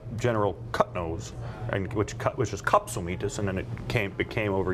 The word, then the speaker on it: Katsilometes: It ends as metis. Metis doesn't rhyme with Wheaties. Wheaties. That's a lot of people get tripped up on the last syllable, but it's Katsilometes.